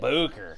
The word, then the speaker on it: Bucher: Chris Bucher has actually called and texted me on several occasions. You didn't say his name right. Oh, well, how am I supposed to say it? Booker.